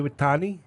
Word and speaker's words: Iwatani: Mayu Iwatani, pin, and 11 minutes. Okay. Dez. I have I don't remember how to say her name. It's Iwatani.